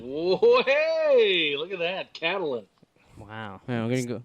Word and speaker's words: Catelyn: Catelyn Stark. Catelyn. Whoa, hey, look at that, Catelyn.